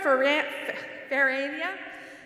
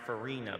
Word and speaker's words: Ferrania: Ferrania, sorry about that, Associate of Science in Computer Science. Hello, everyone. My name's pronounced Farina, by the way.